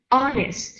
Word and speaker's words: honest: hi I'm sorry what else and remember the s/m sister else and the last one somebody is honest on this one not hon yes the H is silent uh-uh honest someone honest